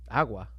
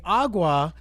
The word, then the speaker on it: agua: It's a really soft G. It's supposed to be in the back of the throat.